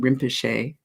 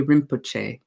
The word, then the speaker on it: Rinpoche: So as you hear, I'm saying Rinpoche, but you can also say Rinpoche with the chi sound, Rinpoche, or if you say the O, if you go Rinpoche, it sounds really strange.